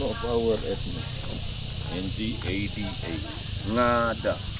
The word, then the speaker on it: Ngada: NGADA. Ngada. Nada. So the G is silent. Yeah. Nada. NG we pronounce Yes.